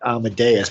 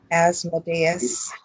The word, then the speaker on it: Asmodeus: This almost looks like Amadeus, but I'm saying it wrong, I'm sure. Asmodeus.